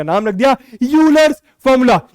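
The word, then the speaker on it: Euler: का नाम रख दिया यूलर्स फॉर्मूला। ई मत प्रोनाउंस करना, ठीक है, ई इज साइलेंट।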